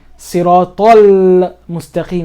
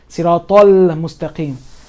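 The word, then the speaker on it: الصراط المستقيم: But here in this context, it'll be Siratal Mustaqim. I'm still pronouncing the lam. Now I'm emphasizing it so you can hear Siratal Mustaqim.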